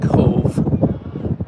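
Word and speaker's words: Cobh: Definitely a corker here at Cork or Cove. Depends on how you want to say it. Spelled K O B H pronounced Cove.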